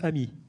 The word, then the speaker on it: AMI: So, it's called It's pronounced AMI. AMI. AMI, sorry. Uh it's a French company. I mean, it's a global company, but the headquarters are in France, and so we pronounce it the French way.